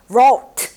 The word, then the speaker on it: wrote: 우리 왜 write 쓰다 라는 단어 있잖아요. 그 단어의 과거 시제 wrote 얘도 발음 없어요.